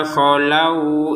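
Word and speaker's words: خلوا: Kholu, tidak panjang sama sekali. Loh, kok bisa tidak panjang sama sekali? Kan ada wau ya. Betul ada wau sukun, tapi sebelumnya adalah harakat fathah. Kalau ada wau ya ada wau kemudian sebelumnya ada harakat domah baru dibacanya laku. Tapi kalau ada wau yang ee sebelumnya itu fathah maka tidak dibaca panjang.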